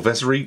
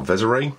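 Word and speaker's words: Vessery: Colonel Vezery, or Vezere, depending how you want to pronounce him.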